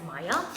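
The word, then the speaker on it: Maia: we form of Maya it's Prana like m-a-i-e so I'm gonna pronounce it as Maya so Maya wants to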